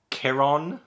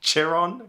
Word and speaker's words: Chiron: Tantalus yeah Tantalus from the underworld he's replaced Kiron Chiron kieron uh not charin kieron P brosen from